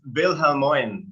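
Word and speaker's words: Wilhelmina: father raymond and mother willamena that's pronounced right well it's pronounced bill helmond to be precise it's german so she has german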